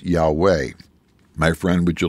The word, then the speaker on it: Yahweh: of the true God the God whose name that they pronounced it was yahwah yahwah you and I know that name is Yahweh my friend would you